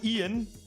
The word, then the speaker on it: Ian: Ja, einfach mein Name Ian. Sonst wird der immer Deutsch von vielen ausgesprochen. Dabei bin ich Amerikaner. Oh. Also Ian, sprich ich Ian auch richtig aus.